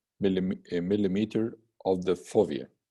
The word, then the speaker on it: fovea: a millimeter of the fovea or for via as it's pronunciated in some other authors or find hard exit